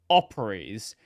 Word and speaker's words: Operese: months ago, the developer of a project called Operies.